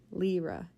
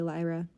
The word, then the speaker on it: Lyra: it says happy birthday Lyra or lra I guess is her name lra lra lra happy birthday lra he pronounced her name wrong Lyra instead of lra oh wait well this